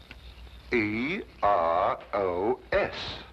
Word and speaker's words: Eros: She added an H where there shouldn't have been one. What? Then spell it as she spelled it, but without the H. E R O S.